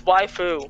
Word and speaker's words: waifu: It's waifu. Waifu, Like waifu. your waifu, like wafer cookie.